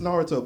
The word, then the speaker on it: Naruto: It's pronounced Naruto, bitch.